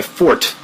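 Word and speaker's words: forte: my strongest that was my fort as it's properly pronounced uh even just starting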